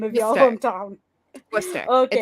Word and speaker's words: Worcester: So I was about to say, how do you pronounce the name of your hometown? Worcester.